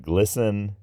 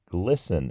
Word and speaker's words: glisten: It doesn't sound great, but it's kind of like glisten. Oh, I get it. We say glisten in English, but that's spelled Glisten. Glisten?